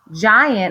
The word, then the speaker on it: giant: is our next one I have a GI so that's my soft G sound it's not going to say G it's G to say J because it's next to an i giant if something is